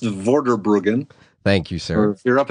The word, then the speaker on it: Vorderbruggen: ward of Bergen and I've already apologized in advance that i